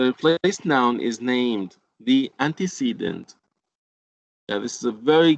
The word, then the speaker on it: antecedent: And please don't pronounce this word antecedent. It's not antecedent, it's antecedent.